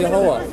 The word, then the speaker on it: Yahweh: The Hebrew is Yahweh. Yahuwah. And it's not Yahweh.